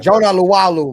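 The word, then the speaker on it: Jonah Laulu: Jonah Lalu, bro.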